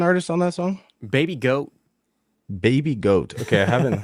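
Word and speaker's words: GHOAT: It's funny because goat is spelled G-H-O-A-T. It's goat.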